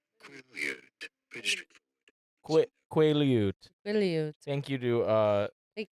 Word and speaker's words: Quileute: Quileute. Quileute.